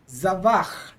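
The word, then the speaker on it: זָבַח: So in this case, we'd accent this word normally, which is the end of the word. You want to try it, Joseph? Yes. Zavach.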